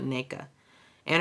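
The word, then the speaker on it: Nneka: to the new girl Nea and her husband is Nea yeah you got to say the n in the front neaa um and her husband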